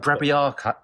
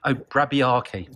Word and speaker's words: Brabiarki: Brabiarca. I can't even pronounce it. I've got it written in front of me. Brabiarki. There you go.